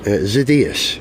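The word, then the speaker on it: Xydias: is that how you say his name or zidus zidas okay yes oh telephone call from Miss ETA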